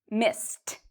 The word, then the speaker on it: missed: The verb miss ends in a S or an S sound. So what does ED sound like? It sounds like a T. Why? Because of the sound before. It's an S sound. So if we look here, S means you pronounce ED like a T sound.